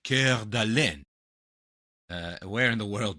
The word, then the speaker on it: Coeur d'Alene: do with this, but actually what if I pronounced it uh Coeur d'Alene instead? Oh, then it's Montana in the vibe. Yeah, now it Oh, really close. Well done, really close. It's in Idaho. Coeur d'Alene.